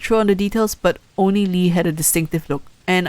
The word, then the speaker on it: Oni Lee: It's pronounced Oni Lee.